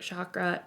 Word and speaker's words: chakra: And the throat chakra is the chakra chakra.